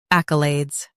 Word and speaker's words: accolades: Stress AK and keep Alad's light.